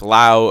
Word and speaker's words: Laos: The S is silent.